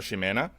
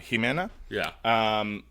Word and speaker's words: Ximena: In Old Spanish, that is actually a much closer pronunciation of her name, Ximen or Ximena. Than the modern, which has become Jimena.